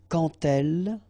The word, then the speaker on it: quand elle: So like that, quand elle, all right, same rule here. Remember, when you will have this D, you will phonetically pronounce it like T.